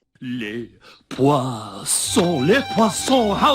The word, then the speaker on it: Poisson: that word, it's pronounced "pwa-sewn." It's a French word meaning fish, so that's how you pronounce it. ♪ Les Poissons, les Poissons ♪ ♪